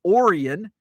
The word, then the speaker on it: Orion: Also, not far from Milan, we have Orion, which is spelled like Orion.